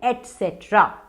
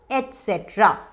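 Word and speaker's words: et cetera: अब इसे कैसे प्रोनाउंस करते हैं? इसका करेक्ट प्रोनाउंसिएशन है एटसेट्रा, एटसेट्रा।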